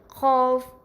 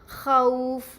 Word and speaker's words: خوف: اگر خوف اردو لہجے میں پڑھا جائے تو کس طرح پڑھیں گے؟ خوف، خوف. ہم عربی لب لہجے میں صحیح طریقے سے کس طرح پڑھیں گے؟ خوف، خوف.